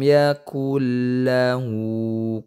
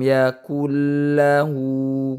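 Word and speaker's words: يكن له: Itu nun sukunnya dimasukkan ke dalam huruf lam. Namanya idgham. Idghamnya idgham bila guna. Kenapa idgham bila guna? Karena nun sukun bertemu dengan huruf lam. Jadi tidak disertai dengan dengung gitu ya. Jadi jangan ditahan dulu. Walam yakul. Nah, tidak seperti itu, tapi dilangsungkan.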